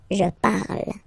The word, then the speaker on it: parle: And then the way to pronounce it is je parle, parle. So remember, we put it, okay, but then we don't really pronounce it, je parle, okay?